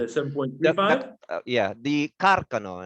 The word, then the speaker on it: Carcano: some point yeah the carcano as it's pronounced because it is an italian rifle uh it's actually very old it's uh the first smiles were developed around 1891.